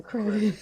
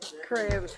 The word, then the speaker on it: Kravitz: I love that she calls him Crevice. I always call him that. I always call him that. Kravitz. Say it right. Kravitz.